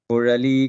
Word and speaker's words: குழலி: Kurali Kadaithiravai. Kulali Kadaithiravai. Kulali Kadaithiravai. So of course, non-Tamilians will find it difficult to pronounce this Ra. Ra is folding your tongue up.